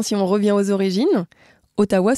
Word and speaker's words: Ottawa: on revient aux origines Otawa se prononce atawa est-ce que tu sais